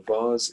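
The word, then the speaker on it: vase: be c bars okay so far so it's spelled like this v-a-s-e so a vars is like an ornament where you can put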